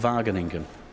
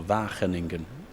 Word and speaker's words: Wageningen: It burns atop a monument in a town called Wageningen, or Wageningen, so to pronounce it more accurately.